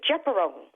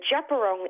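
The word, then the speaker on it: Djab Wurrung: It's actually Japarong. So yeah, when I read that article, I was mispronouncing it. So just to to actually rectify that error, it is the Japerong embassy. So it's pronounced Japarong.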